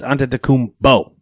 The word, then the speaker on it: Antetokounmpo: what the NBA says when they do their pronunciation of it. Officially, it's Antetokounmpo, not Antetokounmpo.